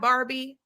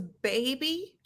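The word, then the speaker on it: Bhabie: law that it's bad barbie and she keeps saying bad baby okay look it's spelled b-h-a-d which is bad and then it's b-h-a-b-i-e there's no r this whole time her stupid-ass name was baby i thought it was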